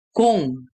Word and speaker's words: 공: Lalu tadi sudah baca ya, ini dibacanya 공, engnya 공. Jadi huruf bulat ini menjadi 받침 dibaca eng.